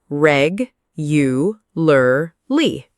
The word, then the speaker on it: regularly: Yes, some learners drop sounds there too. Practice it slowly first. Reg, you, lur, li.